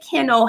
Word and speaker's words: Kienle: It's pronounced Kienle, but I always tell everybody you could call me anything but late for dinner.